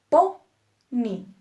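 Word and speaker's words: póney: a las palabras agudas un ejemplo Pony Pony dos sílabas po Ni esta palabra termina en y y nuestra sílaba tónica es po por lo tanto acentuamos po ni fácil No ya casi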